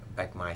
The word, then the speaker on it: Bạch Mai: street name was Bạch Mai Street. It's a long stretch of street, a long street. How do you spell that? B-A-C-H, Bạch, and Mai, M-A-I, Bạch Mai Street, yes.